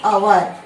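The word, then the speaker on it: hour: अवर कैसे प्रोनाउंस करें हम इसको? अवर। यहां पर स्वर आ रहा है, वॉवल साउंड आ रहा है, इसलिए हम एन आर्टिकल लगाएंगे।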